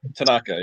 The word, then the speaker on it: Tanaka: Oh, Tanaka, yeah.